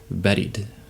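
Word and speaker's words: بارد: duolingo teaches you is buried that's very bad pronunciation but it's it sounds very much like buried right buried under the sand or underground and i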